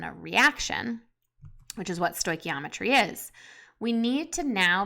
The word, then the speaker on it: stoichiometry: First of all, this funny sounding word right here is pronounced stoichiometry.